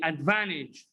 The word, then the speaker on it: advantage: word repeat after me advantage what advantage again repeat unto me advantage advantage advantage oh it's okay why why do we drop t here because we said that